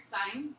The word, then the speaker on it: sin: The sine of A, in your calculator you'll see it as S-I-N, and it's, yeah, but we pronounce it the same way, it's sine.